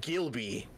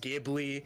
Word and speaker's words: Ghibli: You said Gilby. Pronounce with a J. Jilby. Yeah, Which I, Ghibli, no, Ghibli. it's Listen. the L is after the B.